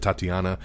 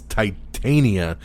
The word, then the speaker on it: Titania: jamil's character on she-hulk i think i said tatiana but it's it's titania i've never heard of